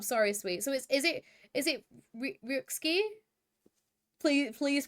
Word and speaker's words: Ryuxkiii: Oh, the X is pronounced, I'm sorry, sweet. So is it Ryuxkiii?